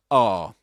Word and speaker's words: are: This in British English, in isolation, is R. R. That's the way you pronounce it. You don't say R as in American English.